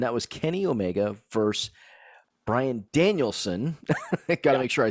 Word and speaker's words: Bryan Danielson: good match, and that was Kenny Omega versus Bryan Danielson.